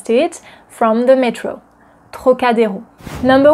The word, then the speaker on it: Trocadéro: And another word that you might want to be able to pronounce correctly is Trocadéro. Trocadéro. Trocadéro. Trocadéro.